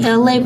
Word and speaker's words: Elay: It's me, Elay, pronounced like LA, like the city.